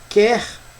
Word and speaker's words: quer: O é pronunciado já na palavra quer não existe a pronúncia do U né aí nesse caso